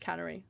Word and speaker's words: Cannery: Canary Road Cannery Cannery I think that's pronounced Cannery like the word Canary the 12th Gallery Road